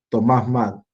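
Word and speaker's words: Thomas Mun: vamos a agregar, que se llama Thomas Mann, ya que se escribe Moon, Thomas Mann.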